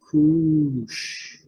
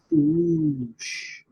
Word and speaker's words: Cush: Let's just say here, they say the Hebrew word Cush is pronounced with 2 O's. Kush. Kush.